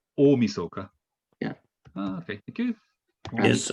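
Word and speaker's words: 大晦日: googled and thank you new year's eve is umi soka really yeah with like a long o i'll start o misoka yeah okay thank you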